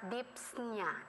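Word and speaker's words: dyspnea: year freshman in college we pronounce it as dips Nia sets you'd be disneyana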